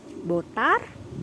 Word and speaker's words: votar: Kemudian aku ada kata lain yaitu botar, atau kalau kita orang Indonesia mungkin bacanya votar. Jadi votar itu artinya to vote atau memvoting. Di bahasa Spanyol itu dibaca botar.